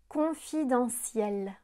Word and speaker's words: confidentiel: De la même manière que les lettres T-I-O-N font le son sion, les lettres T-I-E-L font le son ciel. Confidentiel, présidentiel, exponentiel, résidentiel, potentiel, essentiel, existentiel, démentiel, providentiel, artificiel, partiel.